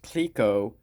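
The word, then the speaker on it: Clicquot: at the end and it was CLI C quot spelled pronounced Cliquot and the bottom part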